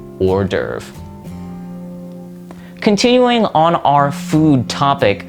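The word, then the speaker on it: hors d'oeuvre: So just think of it like this or derve and that's it. The pronunciation and the spelling are very different for this word, but sometimes English can just be like that.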